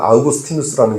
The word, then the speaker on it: 어거스틴: 기독교의 위대한 사상가로 인정받는 어거스틴. 요즘에는 우리 학교에서 아이들이 배울 때는 아우구스티누스라는 용어가 더 익숙할 거예요. 어거스틴은 영어식 발음이죠.